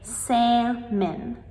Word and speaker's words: salmon: However, this is incorrect. We just say salmon, salmon.